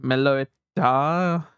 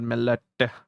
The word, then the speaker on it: Meloetta: Also, you pronounce the A at the end of a name, Meloetta. I think like that's like Italian sounding, right? Melot. It's Meloet, of course, but Meloetta.